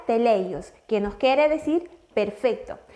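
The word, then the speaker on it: τέλειος: Si vamos al griego, a mí me causa mucha curiosidad que hay un verbo que se escribe o se me pronuncia teleios, que nos quiere decir perfecto.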